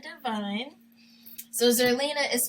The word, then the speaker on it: Devine: And on Twitter, my name is Zerlina Divine. So Zerlina is spelled with an X. So XERLINA. Divine, not spelled with the two I's, is actually spelled DEVINE.